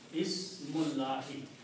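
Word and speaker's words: اسم الله: Ismullahi. Okay. Now separately as ismu and Allahi. When you read them together, you do not pronounce this alif in between. It will be Ismullahi. Ismullahi is the correct statement.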